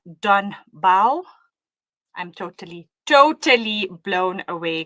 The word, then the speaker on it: Don Bau: I've been to Lanesia and mashallah I have to say this spot it's pronounced Donba.